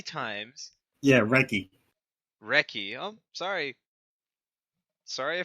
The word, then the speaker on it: Recchi: Yes, apparently so forgotten that his name is actually Mark Recchi. I thought you pronounced the H. I No. always pronounce the H.